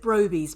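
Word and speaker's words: Brobbey: Is it Broby's presence?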